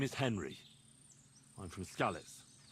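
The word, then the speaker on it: Skalitz: I'm from Scallet. And what the do you want here, Henry of Scarlets?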